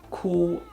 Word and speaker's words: 箍: Like the G sound, you pronounce the K sound by first holding the sound at the back of your tongue near the palate in your throat.